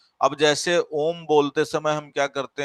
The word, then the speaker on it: ओम: ये जो माँ है, इस माँ से इस ओ का उच्चारण कैसा होना चाहिए, 3 गुना ज्यादा होना चाहिए, और ये जो माँ है इसका उच्चारण कम होना चाहिए। अब जैसे ओम बोलते समय हम क्या